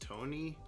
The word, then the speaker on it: Tone: comic is short um okay tone this is pronounced tony slovene masculine given name okay is it pronounced tone i'm just having a hard time understanding why